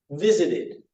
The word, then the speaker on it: visited: pronounce the verbs, but you're only going to use this id sound if the verb ends in a T or a D.